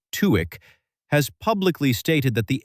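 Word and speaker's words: TÜİK: A former head of TUIK, that's Turkey's Statistical Institute, pronounced Tweek, has publicly stated that the agency underreports inflation.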